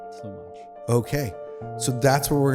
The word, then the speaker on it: Tlumach: Tlumach. Tlu like blue and mach like watch. Tlumach.